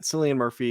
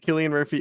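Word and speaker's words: Cillian Murphy: silly people yeah uh yeah I think that selan Murphy is like he's gonna win I hate when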